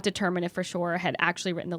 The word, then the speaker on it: Freshour: Freshour? It's Freshour. Freshoir? Like Freshoir, Yeah. yes. It's a French name.